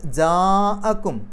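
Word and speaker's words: جاءكم: വരെ നീട്ടാൻ അനുവാദമുണ്ട് നിർബന്ധമില്ല എന്നാൽ ജാഅക്കും അവിടെ ജാ എന്നുള്ള നീട്ടലിന് ശേഷം ഹംസ വന്നു ആ എന്നുള്ളത് അവിടെ മദ്ദും ഹംസയും അടുത്തടുത്ത് വന്നത് ഒരേ പദത്തിലാണ് നിർബന്ധമായിട്ടും നാലോ അഞ്ചോ അക്ഷരങ്ങളുടെ ദൈർഘ്യം വരെ നീട്ടണം ഇങ്ങനെ ഈ നിർബന്ധമായിട്ടും നീട്ടേണ്ട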